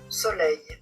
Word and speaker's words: soleil: reine reine pleine pleine Mais si c'est suivi par un L en fin de mot ou un ou deux L, vous allez prononcer he soleil soleil.